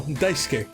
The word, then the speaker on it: Daisuke: I, Katano, will answer along with General Director Daisuke Ishiwatari. Ishiwatari. I'm pretty sure I'm saying his name right. Gotta make sure. If anyone can correct me, please do. But no, Daisuke. That's how you pronounce his first name.